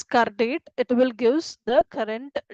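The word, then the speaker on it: CURDATE: So uh we can pronounce it as car date.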